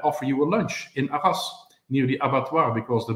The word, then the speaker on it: Arras: And Arras, I learned then that you have to pronounce the last S. If you don't, people do not know where you are.